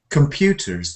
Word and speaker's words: computers: But most people will unstress that sound completely and they will say computers, like that, computers. And that helps you to get the stress on the second part.